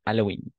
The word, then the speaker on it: Halloween: Halloween en effet Halloween on va prononcer on va faire la prononciation à la française n'est-ce pas h mu Halloween très bien et alors